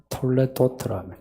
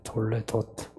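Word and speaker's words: תולדות: 말하는 족보란 말입니다 그 히브리어 발음으로 톨레도트라면 톨레도트 하나님의 처제를 창조하신 내력이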